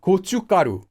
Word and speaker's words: 고춧가루: Again, it's not written that way, but it's pronounced that way. 고춧가루.